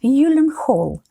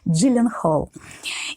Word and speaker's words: Gyllenhaal: фамилии этого известнейшего актера по его собственным словам произносится его фамилия правильно только в Швеции Откуда она происходит и иногда в магазинах IKEA правильно было бы произносить эту фамилию как Юлин Холл Но поскольку уже сложилась стойкая привычка и сам актер с этим смирился то будем и дальше говорить джилленхолл и возвращаемся к названию